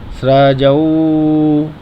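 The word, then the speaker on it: स्रजौ: वात्ताम पुष्कर श्रजऊ श्रजऊ जा मेंऊ की पाई है तो औ बोलेंगे श्रजऊ देखो मंत्र जब समाप्त होता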